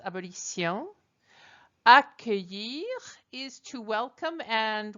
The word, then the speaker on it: abolition: Abolir means to abolish, and we get the word abolition from it, which the French pronounce abolition.